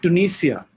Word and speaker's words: Tunisia: It's as I told you, one of the, it's Tunisia.